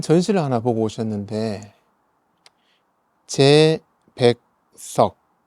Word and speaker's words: 齊白石: 중국에 가셔서 큰 전시를 하나 보고 오셨는데, 제백석, 중국 발음으로는 치바이시라고 하는데요.